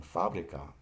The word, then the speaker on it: fábrica: And fábrica, the accent is on the first syllable.